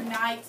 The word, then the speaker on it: knight: word's a tricky one because there's that silent k here this is not night this is like your knight um someone who's an